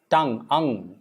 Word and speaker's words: tongue: guitar and that's interesting it's not tongue u no tangi no it's tongue tongue it's not tong it's tongue and that's with you